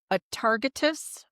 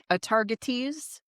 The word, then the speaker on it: Atargatis: It was in the Syrian area, and she was a goddess named Atargatis or Atargatis. It's pronounced both those ways.